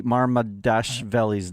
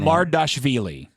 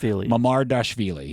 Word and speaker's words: Mamardashvili: Pronounce Georgi Marmadashvili's name. Mamardashvili.